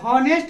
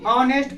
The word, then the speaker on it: honest: तो देखो हम इसको पढ़ेंगे क्या, इस वर्ड को, तो HONEST को हॉनेस्ट नहीं पढ़ते, ऑनेस्ट पढ़ते।